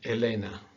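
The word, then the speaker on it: Helena: two different pronunciations okay one is at the beginning of a letter it is silent so these words this is aura or ogi and elena okay you so you don't hear the age here aura okay the h when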